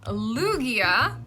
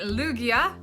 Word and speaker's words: Lugia: we have Tyranitar moving on again we have Lugia all right Lugia Lugia Lugia Luigi Lugia I go with Lugia all right we have